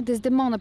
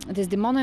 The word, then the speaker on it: Дездемона: как изгради своята дездемона дездемона или дездемона къде ударение демона дездемона принципно дездемона но дездемона също не е е грешно да се казва а дездемона принципно е